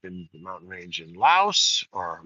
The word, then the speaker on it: Laos: the mountain range in Laos or Lao, Laos, but I think people pronounce it Lao.